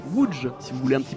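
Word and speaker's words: Łódź: D'ailleurs, je vous la prends, ça ne sert à rien mais ça se prononce Wood si vous voulez un petit peu flex en société.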